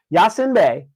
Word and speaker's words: Yasiin Bey: on the name that he goes by today Yasin B did I say that right yeah you say it right Yasin B I would automatically assume this man is of